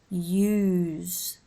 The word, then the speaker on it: use: a positive suffix and note the sound varies use the S is like a zed useless and useful it's a very much an S sound unknown unheard of it